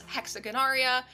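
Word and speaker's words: Hexagonaria: The corals come from this genus, which I am going to pronounce "HEHX-uh-GUHN-aar-EE-uh", and apologies in advance if I did not get that right.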